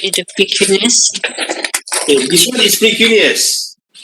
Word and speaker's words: precuneus: Pretinus. Say that again. Pretinus. How do you spell that? Precuneus.